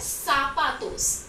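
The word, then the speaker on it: zapatos: आपको मैंने बताया कि जड को हम स से प्रोनाउंस करते हैं जैसे कि ये सापा तोस नहीं है ये है सापा तोस स से प्रोनाउंस करेंगे जड को तो ये सापा तोस जिसका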